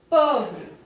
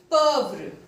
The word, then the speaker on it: pauvre: D is not pronounced because in French language the last consonant of any word is not pronounced. So, show. Pauvre. Pauvre.